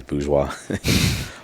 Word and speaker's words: Bourgeois: business after hours uh people call me bougie cuz they can't really pronounce boua also cuz I dress